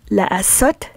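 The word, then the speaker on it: לעשות: So the verb la'asot means to do, and the prefix lamed is pronounced as la.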